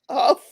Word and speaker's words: Hough: Tom Cruise and Julianne Hough. All right? That's it. Julianne, isn't it? Huff? Huff? Huff? What? I thought that their last name was Hough. That's how it's spelled.